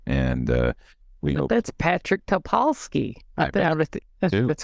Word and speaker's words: Topolsky: And we hope that's Patrick Topolsky. That's how you pronounce it. Topolsky? Topolsky.